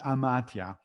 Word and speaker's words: amathia: The Greek word is amatia, and it's spelled Amathia.